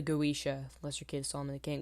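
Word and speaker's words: Goetia: can't remember second thing I Mis pronounced the word goisha that's my bad I was calling it uh the goia the Lesser key of Solomon the king it's it's pronounced the goisha ler kid Solomon the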